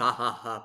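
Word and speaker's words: хаха: knew it's actually pronounced haa but like the x is pronounced as an H but we always just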